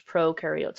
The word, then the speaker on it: prokaryotes: Remember that in the video they said pro rhymes with no, which means prokaryotes have no nucleus. Eu rhymes with do, so eukaryotes do have a nucleus.